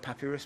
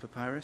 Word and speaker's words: papyrus: type papyrus swamps i tend to call it papirus but apparently it's pronounced papyrus so you can see it here highlighted in